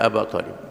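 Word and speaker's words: أبا طالب: Faqala Abu Jahl wa Abdullah bin Abi Umayyah, ya Aba Talib, ya Aba Talib, bukan Abi Talib, ya Aba Talib, nahunya kena Aba Talib, atarghabu an millati Abdul Muttalib?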